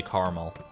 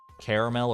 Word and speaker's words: caramel: way or the other caramel or caramel air Ramel you say caramel I'm telling you we're already seeing divisiveness with the second sound pronounced yeah dude are you are you a two-syllable or a three-syllable I guess would be the best way to to delineate that because there's caramel and